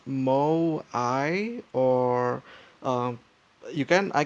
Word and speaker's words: Moai: to pronounce my uh let's see here it's pronounced Mo I or um you can I can listen to